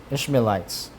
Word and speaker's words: Ishmaelites: bought him of the hands of the Ish Ishmaelitesh I ishelites that's how it's pronounced and sometimes it's hard for pronunciation to be had but him of the hands.